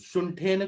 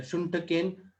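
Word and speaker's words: शुण्ठकेन: आप शुंठेन क्यों पढ़ रहे हैं? शुंठकेन सकुलत्थकेन, क आपने साइलेंट कर दिया।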